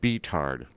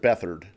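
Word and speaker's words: Beathard: back again T was it TJ CJ CJ beard but they pronounce it bethard bethard it's wrong in many ways actually you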